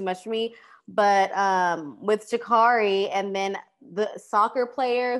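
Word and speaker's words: Sha'Carri: But is that how you pronounce her name? Shikari.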